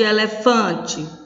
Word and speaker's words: elefante: Observe, o té, elefante, o té é a última sílaba, fã é a penúltima e o lé é antepenúltima. Mas o fã é a sílaba mais forte, isto é a sílaba tônica.